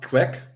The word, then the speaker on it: QEK: and what does this QE mean okay it's pronounced quack yeah quack Union and it means which is